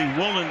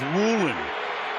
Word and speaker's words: Woolen: football knock it away spelled like it should be woen but he prefers Woolen and he changed it